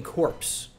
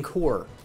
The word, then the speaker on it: corps: also it's not receiving corpse it's receiving core i hope i i thought i heard him say corpse it is spelled c-o-r-p-s you got me there that's pronounced core if you didn't know